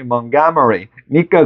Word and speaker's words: Montgomery: 야, 이거 원래 발음이 Montgomery니까 그렇지, 자식아.